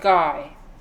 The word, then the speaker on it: Guy: It's spelled Guy. Someone informed me that it's supposed to be pronounced Guy.